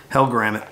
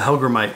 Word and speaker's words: hellgrammite: Niko the hellgrammite and it's not pronounced was I heard a guy say the other day he'll grant it it's a hellgrammite I think so anyway